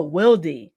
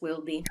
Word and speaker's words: Wildy: you're most welcome yeah my name is actually pronounced it's a little bit like tricky because it is it is spelled out loudly but it's actually wielding oh Will D yeah yeah it has it's Spanish alphabet so the I is um not pronounced that way it's just will be yeah all right all